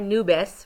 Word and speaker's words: nubes: So the first one is hay nubes. Remember that we pronounce the E here at the end.